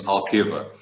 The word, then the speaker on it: Alqueva: The correct way to say is Alqueva.